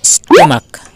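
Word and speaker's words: stomach: উচ্চারণটা হবে মনার্ক তাহলে ক এর মত যখন উচ্চারণ হবে তখন আমরা এস যোগ করে প্লুরাল ফর্ম করবো এবার দেখো স্টমাক স্টমাক এখানে সিএইচ আছে লাস্টে অক্ষর তোমার সিএইচ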